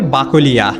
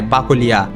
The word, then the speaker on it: বাকলিয়া: বাকলাই শব্দের শেষের ই ধ্বনি ধীরে ধীরে ইয়া উচ্চারণের রূপ নেয়। যা বাংলা ভাষায় খুবই স্বাভাবিক একটি বিবর্তন। যেমন অনেক প্রাচীন নাম সময়ের সাথে নতুন উচ্চারণে স্থায়ী রূপ পায় ঠিক তেমনভাবেই বাকলাই থেকে হয়ে যায় বাকলিয়া।